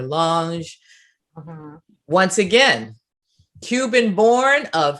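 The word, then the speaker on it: Lange: god mother mary elizabeth lunge now it's interesting because sometimes you hear people say her name lang or lunge once again cuban born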